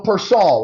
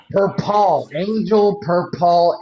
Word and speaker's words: Perpall: My guest today is Persol, right? Is that how you pronounce it? Per Paul aka the lovely.